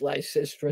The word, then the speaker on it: Lysistrata: Have you ever read the play Lysistrata, which I'm told is pronounced Lysistrata?